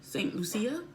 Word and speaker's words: St. Lucia: to talk to Louie st. Lucia st. Lucia it's how she pronounces it um she's been